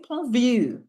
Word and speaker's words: Pontvieux: And today we have a marvelous guest, Pontvieux. Did I pronounce that correctly? Yes, fantastic. I've heard every pronunciation, so it's good. Yeah. Pontvieux is the way. Pontvieux.